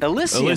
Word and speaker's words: Elysian: Elysian there you go.